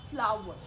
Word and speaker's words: flour: यस, I said फ्लावर, FLOUR को आप correct pronunciation देंगे फ्लावर। आप इसे फ्लोर नहीं बुलाएंगे। FLOWER को भी आप फ्लावर बुलाते हैं। Same pronunciation goes with FLOUR, that is फ्लावर।